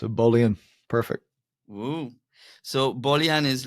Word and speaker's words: Bolian: I pronounce it well bullion bullion it's perfect it's actually it's like Kardashian it's a Boolean perfect so bullion is